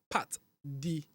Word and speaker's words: Pat'D: of you get it wrong and then they pronounce it pat the analysis it's actually not part the analysis is Part D analyst the D is is a capital letter